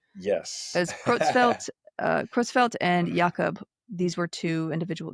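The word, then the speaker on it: Creutzfeldt: Somebody out in Facebook land actually uh found a German a native German speaker to pronounce this correctly for us. So, here it goes. Okay. I'm going to loop it a couple of times here. Kitzfeld Yakopitzfeld Yakop.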